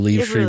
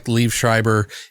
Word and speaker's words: Liev Schreiber: Yeah, it's really weird to say his name, Liev Schreiber.